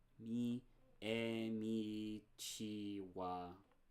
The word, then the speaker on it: ち: ち Chi.